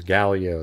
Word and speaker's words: Gaglio: And it was Galio. That's how you say it.